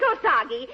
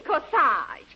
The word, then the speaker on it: corsage: your beautiful kassage darling it isn't kosagi it's corsage a-g-e is pronounced odd as in garage oh they're beautiful where